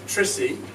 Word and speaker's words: Trissy: well firstly Professor Tristram known to the students as trissy to rhyme with prissy uh was a medievalist